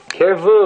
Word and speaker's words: kirvu: By the way, you pronounce the second one first. Right? It's kirvu. Right?